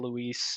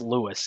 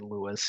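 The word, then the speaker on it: RJ Luis: of everybody um RJ Lis it sounds like he's banged up again it's Lewis isn't it I don't know RJ I think it's RJ Lewis even though it's spelled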